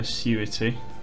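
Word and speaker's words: Acuity: um barry is going to take like a surity that's how you pronounce that and i'm going to go back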